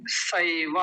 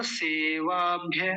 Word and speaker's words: सैव: जी, बस वो गलती आपने फिर से दोहराई, वो है सैवा, आपने बोला सेवाभ्य, सेवा नहीं सैवा, सैव।